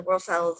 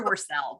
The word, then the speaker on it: Worsell: Worsel's, am I saying that correctly? No, but I don't care. It's okay. It's Dr. Worsell, but I'm not going to Dr.